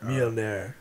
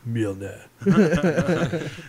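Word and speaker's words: Mjölnir: Mjolnir. You gotta say it like Chris Hemsworth. Mjolnir.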